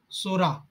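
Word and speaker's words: Psora: sorenium itching eruption of Sora sorenium word is a p Silent start from the s word and Sora P silent pronunciation r s tuberculinum tubercular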